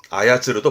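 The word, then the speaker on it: 操る: 발음은 소사. 이거 외에도 조종사도 봐두세요. 소주시라든가 체조, 타이소라든가 그리고 조종하다 동사로는 아야츠르도 봐두시고요.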